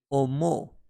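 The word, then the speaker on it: 思う: To think or to consider is being pronounced as omo, and later can be modified into omoimasu, omoimashita.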